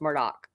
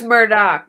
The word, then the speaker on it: Murdaugh: say smart all but we know it's Murdock mm-hmm but I always do Myrtle don't I I'm talking to you I say Murdoch too just because I've been saying it since the beginning that's why I renamed a murdick I know it's Murdoch but I can't help